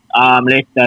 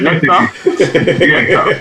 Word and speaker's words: Leicester: Although Leeds play hard still, but now get Leicester the edge.